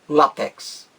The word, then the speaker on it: látex: opção b de bola a palavra látex tem apenas uma pronúncia um assento no ao correto latex latex apenas uma pronúncia com a com acento no a paroxítona terminada em x e a opção bem